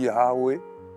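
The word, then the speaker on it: Yahvé: Donc, lorsque tu dis Yahwé dans la prononciation, tu respires et tu expires. Tu respires et tu expires pour prononcer le mot.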